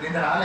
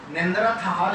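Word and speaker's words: Neanderthal: सी different है वैसे, निंद्राल exactly नहीं बोलते, निंद्रा थाल इस तरह करके बिल्कुल, वो आप देखिएगा गूगल पर तो आपको पता लगेगा।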